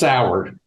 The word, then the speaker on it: Soward: they think it's pronounced Soward.